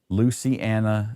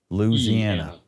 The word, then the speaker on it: Louisiana: Luciana, not the right pronunciation. It is if you live in Alabama. No, it wasn't Lucy. It was lose. Louisiana. It wasn't 2 words. It was 3.